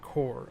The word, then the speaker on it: corps: Yeah, is pronounced core.